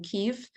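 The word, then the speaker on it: Kyiv: uh media started going saying instead of Kiev started saying Kiev right it just instantly a change right a senate support for Ukraine the latter of course is a much more is a pronunciation closer to the Ukrainian although no one would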